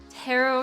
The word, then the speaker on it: tarot: that we did a tarot card reading without you well props to you Sierra for learning the correct way to say the word it is not terrible that's right tarot uh entire time debating